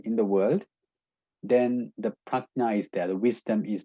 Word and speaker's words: prajna: And lastly, the last kusal thought is called prajna or panna. It's actually pronounced prajna.